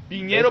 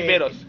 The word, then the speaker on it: Viveros: Viñero Es que Viveros. el apellido es Viveros, pero como parece un vivero, entonces te confundes entre viñedo y vivero.